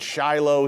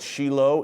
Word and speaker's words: Shiloh: We pronounce it Shiloh here in the West, but Israelis call it Shiloh, in the biblical heartland of Samaria.